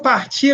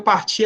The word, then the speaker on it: partir: vocês, ó, quando eu partir, aviso a vocês. O partir, parece que eu estou falando partir, né? O R do final, ele praticamente não é ouvido, não é pronunciado, mas ele está ali, né?